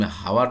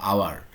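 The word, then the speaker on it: hour: এইটা উচ্চারণ করতে গেলে তুমি হাওয়ার তো আর বলবা না, বলবা আওয়ার। আওয়ার মানে ও দিয়ে শুরু করতেছো, ঠিক আছে? এই কারণে এইচ এখানে সাইলেন্ট, আর এর কারণে তোমার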